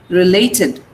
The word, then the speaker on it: related: So relate, related, TID. The pronunciation will become id.